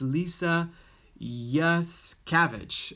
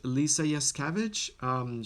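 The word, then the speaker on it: Lisa Yuskavage: Her name, how to pronounce her name? Her name is Lisa Yaskavich. Lisa Yaskavich.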